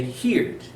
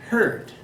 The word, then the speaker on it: heard: tense pronunciation changes many people want to say heared that's not correct the correct pronunciation is hurt so this is here but this one is